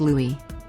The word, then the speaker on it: Louis: his name is pronounced Louis just like The Little Prince of Cambridge or perhaps she's a